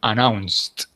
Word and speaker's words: announced: Remember, you don't have to pronounce this E because before the E, you see a C. The S sound doesn't make the E sounds, okay? Before, in order that you pronounce the E, remember, you have to have a T or a D, okay?